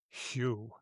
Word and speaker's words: Hugh: I pronounced your name wrong on our last episode, but you shall henceforth be Hugh.